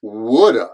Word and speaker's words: would have: past modal would have remember the usual pronunciation of would have is woulda I would have gone